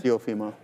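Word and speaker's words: Teofimo: Topimo.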